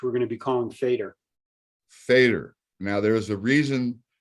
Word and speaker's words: Faidr: new app which we're going to be calling fader fader now there's a reason behind the name